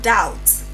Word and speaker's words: doubt: So, we have doubt.